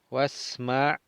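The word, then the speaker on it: اِسْمَعْ: Wasma', aquí no pronunciamos el alef, y si no brincamos a la sin decimos wasma', y ponemos i, aunque lleva sukun en imperativo, pero ponemos i para continuar y leemos el lam.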